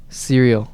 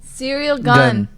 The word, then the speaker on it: Ciryl: How is that offensive when I'm pronouncing it correctly? It's cereal. Ciryl Gane.